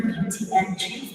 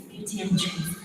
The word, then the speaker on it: Beauty and Treats: Just like how you pronounce Pick and Pay. It's one word, it's not Beauty and Treats, it's Beauty and Treats.